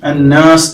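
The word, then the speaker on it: النَّاس: ഈ സൂറയിൽ പ്രത്യേകിച്ച് ശ്രദ്ധിക്കേണ്ട ഒരു പാരായണ നിയമം ശദ്ദുള്ള നൂനാണ് നൂന് നൂനിന് മുകളിൽ ശബ്ദ് അപ്പൊ ഇങ്ങനെ വരുമ്പോൾ അത് നന്നായിട്ട് മണിച്ച് ഉച്ചരിക്കേണ്ടതുണ്ട് ഇങ്ങനെ മണിച്ച് ഉച്ചരിക്കാൻ വേണ്ടി പ്രത്യേകം ശ്രദ്ധിക്കണം നമ്മുടെ മൂക്കിന്റെ മുകൾ ഭാഗത്ത് ഉറച്ച മൂക്കുണ്ടല്ലോ ഉറച്ച ഭാഗത്തിന് തരിമൂക്ക് എന്ന് പറയും ഹൈഷും എന്നാണ് അറബിയിൽ പറയുക അപ്പൊ ഈ ഭാഗം കൊണ്ട് കുറച്ചുനേരം ഒന്ന് മണിച്ച് പിന്നെ നല്ല വ്യക്തതയോടുകൂടി മനോഹരമായിട്ട് പാരായണം ചെയ്യാൻ ശ്രമിക്കേണ്ടതുണ്ട് അപ്പൊ ഈ സൂറയിൽ അന്നാസ് എന്ന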